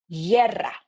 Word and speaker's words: guerra: So if you see, again, if you see a word with G-U-E, G-U-I, you never pronounce the U. You just avoid the U and you make a soft sound.